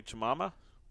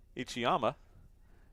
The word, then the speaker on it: Ichiyama: be number 11 Shinko ichim Mama that is not how you pronounce it ichiyama and 35 26 and